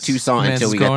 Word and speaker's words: Toussaint: talk about those tabs it's joseph tucson uh the real the real pronunciation right he tweeted out